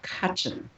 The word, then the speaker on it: Cutchin: Well, tonight, for instance, my guest was this amazing guy named Joshua Cutchin. I'll spell it. It's Cuthin.